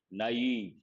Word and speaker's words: naive: Naive, you got to be careful with the pronunciation. Naive.